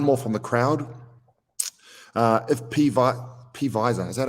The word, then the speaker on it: Pfizer: If Pfizer, is that how you pronounce these things? Pfizer.